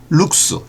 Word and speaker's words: 럭스: 럭스. 여기에 보면 조도 이는 럭스. 잘못 발음하면 룩스라고도 하죠. 룩스.